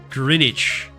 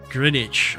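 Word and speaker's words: Greenwich: Oh, the W is silent, so it's it's Grinwich. Grinwich.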